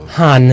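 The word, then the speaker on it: हाँ: So in Hindi I'll put H-A-A for a long A and an N to the end. But it's like in French, so it would be han.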